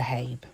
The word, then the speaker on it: Zuhaib: interesting talk so without further ado welcome to habe thank you so much and yes you pronounce my name absolutely perfect not many people